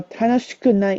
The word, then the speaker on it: 楽しくない: just for pronunciation tips, tanoshi with a long e is the e adjective, and we took off that e to add ku to make it into an adverb to describe nai. So tanoshikunai is how it tends to be pronounced.